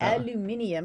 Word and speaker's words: aluminium: prices isn't that great let's say it like that aluminium because we're British um prices were down